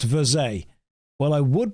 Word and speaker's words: Verge: It's French, pronounced Verze.